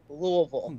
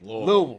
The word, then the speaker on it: Louisville: Derby is pronounced Louisville. Exactly. Louisville. Yes. Yes. Louisville. Like you got to kind of like swallow your tongue a little bit.